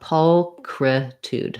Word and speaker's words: pulchritude: i was thinking about pulcretude so that ch is a k sound just like in christmas or in my name christine so let's i'll write it